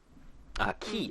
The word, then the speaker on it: quay: from the candle keep quay key i believe is how that word is pronounced it's a shitty word